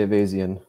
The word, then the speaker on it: Ayvazian: you can call it you can say evasion that's the easiest way to say it it's like the American